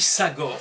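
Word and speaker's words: סגר: mais cette racine hébraïque, qui se dit Sagor, donc il s'écrit Samer, Gimel, Resh, Sagor, veut également dire, on va construire sur ce mot fermé, un mot qui se dit misgeret.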